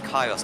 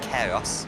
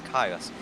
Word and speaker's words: Kairos: I believe it is Kairos, not Keros. It's Kairos.